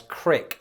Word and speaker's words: creek: Some Midwesterners will pronounce creek as crick when talking about a brook or a small stream.